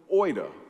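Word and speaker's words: oida: the Bible it's where we get the word Oita and that's pronounced it's spelled o-i-d-a it means factual content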